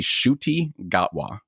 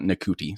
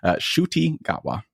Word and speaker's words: Ncuti Gatwa: He has a pretty epic name, and it's not spelled anything like you would imagine it's actually pronounced as. So it's actually Ncuti Gatwa, not Ncuti. So I apologize for mispronouncing his name dramatically. Ncuti Gatwa.